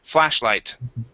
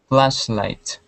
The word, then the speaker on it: flashlight: go to flashlight okay pronounce the T at the end there Stephen flashlight flashlight okay very good uh